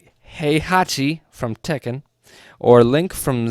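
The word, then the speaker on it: Heihachi: has used characters like he Hachi hey hey it says he I know but that's just how it's spelled all right hey Hachi from Tekken or Link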